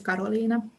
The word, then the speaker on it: Karoliina: yeah, like the Finnish pronunciation is Karoliina.